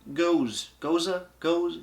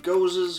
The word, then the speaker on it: Gose: We have their new Radical Gose Salted Lime Gose. Goose? I think it's called a Gose, or Gose, I forget exactly.